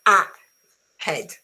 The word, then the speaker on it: ahead: Remember that is not ahead, okay? Because there is no stress on this letter. The same is about, ahead, about, alive, even alive. There is no stress at the beginning, and therefore on this vowel is pronounced with a schwa.